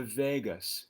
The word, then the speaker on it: vagus: helps to stimulate the vagus nerve not the las vegas nerve no this one is spelled l-a-g-u-s you can search for